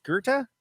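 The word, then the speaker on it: Goethe: how you say that is it's called it's gerta is how you pronounce that guerta the german philosophizer i i should i should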